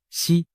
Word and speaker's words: 石: 胡锦涛，实在某些方言里读作西，实难逃